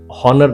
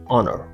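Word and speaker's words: honour: rule है कि H beginning है ओ साइलेंट है कुछ वर्ड्स बट एक्सेप्शन जरूर है ये हॉनर नहीं है इट्स ऑनर होनेस्टी नहीं इट्स ऑनेस्टी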